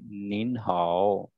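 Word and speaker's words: 您好: So next, अगर एक से ज्यादा पर्सन आएगा या ये एम साइलेंट हो जाएगा? नहीं नहीं एन भी साथ स्पीक होगा, ये इसको हम स्पीक करेंगे निन हाओ. निन हाओ गॉट इट.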